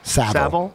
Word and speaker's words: Savile: Savile.